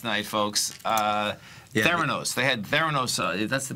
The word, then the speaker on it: Theranos: They had Theranos. That's the pronunciation. Yeah, I believe so, yes. Theranos.